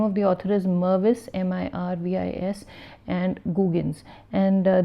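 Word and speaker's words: Mirvis: of corporate citizenship is Mervis with an I and Marvis & googans and I mistakenly spelled and pronounced the name as Marvis and that was my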